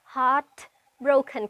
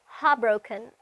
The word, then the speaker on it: heartbroken: ඉතින් මේ heartbroken කියන වචනේ pronounce කරද්දී ඔයාලට අවශ්‍ය නම් මේ වචනේ තියෙන T අකුර pronounce නොකර ඉන්න පුළුවන්. එහෙම කරනවා නම් ඔයාලා ටිකක් අර native කෙනෙක්ගේ pronunciation වගේ ඒ වගේ pronunciation පැත්තකට යන්න පුළුවන්. heartbroken කියන්නේ නැතුව අපිට කියන්න පුළුවන් heartbroken.